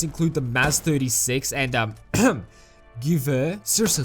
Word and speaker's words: Gewehr: But some of my favorite guns include the Maz 36 and Gewehr. Seriously, like, why is it spelt with a W? I know in German, W is pronounced as a V, but if we're gonna